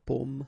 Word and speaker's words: pomme: the same way, okay, because in that case normally it should be a bit lower, pomme, and then here more open, so pomme, okay.